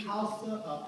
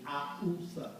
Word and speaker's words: Hausa: The Twi, the Fante, the Ga, the Iwe, Fon, Yoruba, Beni, Hausa, Akusa, They don't pronounce the H. It's Ausa.